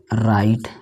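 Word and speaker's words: write: आर के पहले डब्लू नहीं पढ़ा जाएगा। जैसे देखिए राइट, ये डब्लू नहीं पढ़ा गया, और आई को आई पढ़ा गया।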